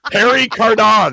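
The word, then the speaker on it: Pierre Cardin: way I can say it because it's a parry Cardin card in how do you say that well no no let's hear that again that was fun Harry card on yeah that's how you say it 1970s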